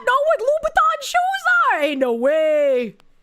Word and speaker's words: Louboutin: Sometimes I pronounce it wrong and I'm just like Louboutin. It's hard to remember. It's Louboutin.